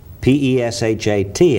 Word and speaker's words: Peshat: P-E-S-H-A-T, I guess, is the way we would spell it.